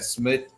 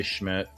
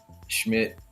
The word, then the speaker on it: Schmidt: So, we got Smid out on for the I think that's how you say his name. Just say Schmidt. Schmidt.